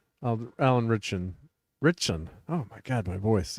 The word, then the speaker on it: Ritchson: Richardson? Alan Ritchson.